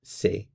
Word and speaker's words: sais: And you should know how to spell it as well. Very important. I know. Je, subject, verb form, sais.